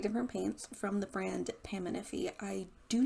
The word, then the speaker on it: Paminify: gonna go and assume that that's how you pronounce the name of this brand. So it is not Paminify like I thought it was. It is Paminify.